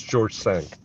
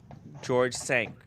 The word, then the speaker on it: George V: It's George Cinq. It's spelled Cinq, and it's pronounced Sanq, which is George V in French. So it's George Cinq. George Cinq.